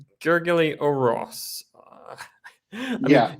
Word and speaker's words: Orosz: It's called The Pragmatic Engineer by, another interesting name, Gergely Oros. I mean, in Polish, you would read it as Orosz, but I'm sure that's not the way it's usually pronounced.